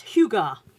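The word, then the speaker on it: hygge: Now, I always presumed it was Hig, but it's not, apparently. It says on the front how to pronounce it. It's Huga, which is the Danish art of living well.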